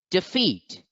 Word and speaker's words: defeat: you can see that the apostrophe is over the second syllable so feet must be accented so the word must be pronounced as defeat defeat defeat let's look